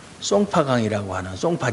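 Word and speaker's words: 松花江: 때 그게 소화가 우리가 송화강 이고 중국 발음으로 는 아 쏭 파 강 이라고 하는 송파 장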